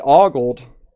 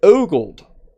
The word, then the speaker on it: OLED: But you started you but you started with ogold. Ogold. Yes, I understand now. Uh oled can sometimes be pronounced like a gold where the first syllable sounds like a uh it's definitely one